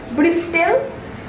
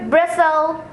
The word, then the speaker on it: bristle: Bristol. Dude, you're again wrong. It'll be bristle.